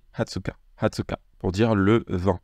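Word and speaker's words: 二十日: japonaise et exception également pour le 20 on va dire hatsuka on va pas dire ni jichi même si on vous comprendra si jamais vous dites niichi mais le mot adapté c'est hatsuka hatsuka pour dire le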